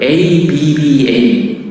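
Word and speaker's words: אבא: 아빠, 아버지를 이 아람어, 유대민족들은 ABBA, 아빠. 발음이 똑같아요.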